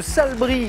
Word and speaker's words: Salbris: Z on prononceuse Elisabeth de Salbris dans le Loir-et-Cher et on prononce pas le S à la fin bonsoir Elisabeth voici Stéphane